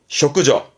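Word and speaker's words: 織女: 근데 발음이 쇼크죠. 이렇게 쇼크로 가기도 합니다. 쇼크죠. 쇼크죠. 배틀을 자는 여자를 말하는 쇼크죠가 되겠습니다.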